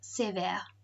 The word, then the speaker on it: sévère: The accent coming down makes this an air sound. That's why the accents are important. They tell us how to say the word.